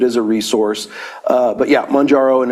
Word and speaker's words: Mounjaro: Yeah, it's Mounjaro. Mounjaro.